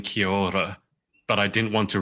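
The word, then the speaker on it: Kia ora: So Kior, it's sort of like a rolled R is how I'll describe the trick to pronouncing it.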